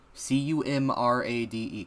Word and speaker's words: Comrade: You understand me? Cumrade. Comrade Luigi. But it's spelled normally.